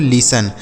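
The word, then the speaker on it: listen: देखिए यहां पर जो टी लिखा गया है यह साइलेंट है। मतलब इसको नहीं पढ़ा जाएगा। तो क्या पढ़ा जाएगा इसे? लिसन।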